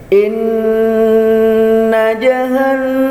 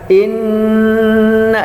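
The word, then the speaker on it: إن: Inna di hidung ya. Tahan, sabar, jangan buru-buru, jangan inna jahanna. Itu bukannya didengung namanya, itu namanya cuma ditekan saja.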